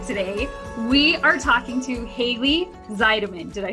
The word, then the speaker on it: Hayley Zeidman: We are talking to Haley Zeideman.